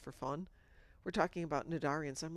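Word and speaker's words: Cnidarian: The defender the Yeah, it's called Nadarian. It's just got a silent C at the beginning of it.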